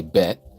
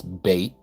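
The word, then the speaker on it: ב: So, um, like here, this is bait. Okay, they say bet, but it's bait. Like b a y t bait.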